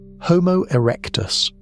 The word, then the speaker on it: Homo erectus: Homo erectus, pronounced h o h m o erectus, is the dominant human on the planet.